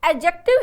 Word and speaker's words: adjective: है अच्छा ठीक है एडजेक्टिव इसका सही प्रनंसीएशन है हम बचपन से एडजेक्टिव एडजेक्टिव बोलते आते हैं मडर आफ इंटरनेशनल इस एडजेक्टिव दी को साइलेंट किया गया है नेक्स्ट 9 न्यूज